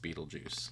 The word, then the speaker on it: Beetlejuice: and then well that's how it's spelled it's pronounced Beetlejuice yeah but the spelling of the movie is